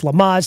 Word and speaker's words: Lamaze: So Lamaze is how you say the breathing exercise stuff we were talking about. It's Lamaze, not Greg LeMans. Apparently that is the race car driver.